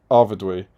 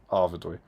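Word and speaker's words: Arvedui: Joe Holzman, you wouldn't pronounce the U and I separately, would you? You do in ruin, which is apparently how that sound is pronounced in Arvidui. So it's Dewey.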